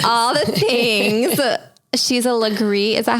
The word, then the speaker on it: Legree: She's a Legree. Is that how you say it? Legree, That's how I always said it.